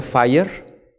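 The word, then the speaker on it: FHIR: que está bajito que se llama se pronuncia fire así le pusieron y por si tienes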